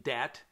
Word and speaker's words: debt: Now, we trick it up from now and again with constructions of words that have silent letters, like the B in debt.